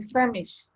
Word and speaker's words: famished: for two days I'm famished famished famished final sound steep damage I'm famished yes because of the SH Edie you pronounced a